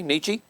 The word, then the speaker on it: Nietzsche: And it says Frederick How do you pronounce his last name there? Can anybody tell me? Nietzsche? Nietzsche? Okay, Nietzsche.